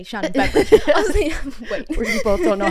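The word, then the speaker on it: Shannon Beveridge: Shannon beverage fan that is how you say shanon beverage wait you both don't know how to say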